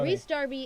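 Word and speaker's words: Rhys Darby: know guy man also what how do you pronounce this guy's name re ree Darby okay so Rees Darby is from Flight of the Concords well yes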